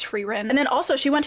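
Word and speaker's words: Frieren: series which is frein I think I've been pronouncing it wrong but I'm pretty sure it's frein and then also she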